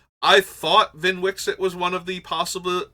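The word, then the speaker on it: Vnwxt: zinder split so yes if you get VIN Wix it that is how his name is pronounced just a little fun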